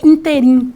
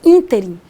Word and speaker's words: ínterim: Palavra ínterim, que muita gente fala interim. Neste interim, não existe interim, é ínterim.